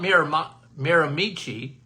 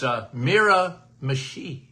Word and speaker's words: Miramichi: It's not Miramichi, it's Miramichi, New Brunswick.